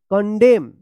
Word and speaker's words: condemn: कॉलमन मत पढ़िएगा, यहाँ पे N साइलेंट रहेगा, CONDEMN, देखिए MN एक साथ है तो N उच्चारण नहीं होगा। कंडेम, कंडेम पढ़ेंगे, कंडेम, CONDEMNED, क्या पढ़ेंगे, कंडेम्ड, कंडेम्ड, यहां पे भी एन क्या है, साइलेंट रहेगा।